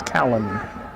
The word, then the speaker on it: Callan: I think his mother said it was like Calvin, but it's Callan.